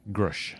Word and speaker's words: Grusch: uh they've they've uh his pronounced his name now uh grush Dave grush yeah and